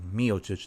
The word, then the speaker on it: Miocic: That's the correct way that you say his name, Miocic, not Miocic. Right? I had to call my Croatian friend. He verified with me. He was like, "It's Miocic."